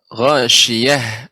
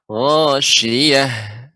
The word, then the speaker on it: ghasyiyah: Ya, Ibu, pengucapan Ya, ghasyiyah langsung diucapkan ya, ha besar, ghasyiyah ya, ghasyiyah. Demikian.